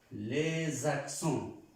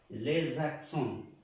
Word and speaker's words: les accents: accent, iniciando una vocal, yo debo unir esta S con esta A. Por eso se pronuncia les accents. Esta S se pronuncia como una Z, ya les dije anteriormente, porque es una sola S. Les accents. Les accents. Lesa, como si dijéramos lesa.